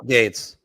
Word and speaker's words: Gaetz: Okay, how do I spell it? Gaetz. Yeah, Link there you go. Gates.